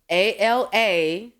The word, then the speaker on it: Alamaze: like mine are complicated, African names are usually spelled exactly how you say it. Yeah. It's not complicated. It's the Quanishas that get you messed up. Okay? Yeah. So Alamaze is spelled ALAMAZE.